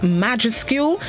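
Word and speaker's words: majuscule: the day this morning is spelled m-a-j-u-s-c-u-l-e pronounced majescule it is a known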